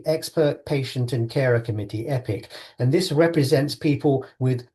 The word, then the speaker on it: EPCC: We like to call it pronounce it epic because it's an epic organization.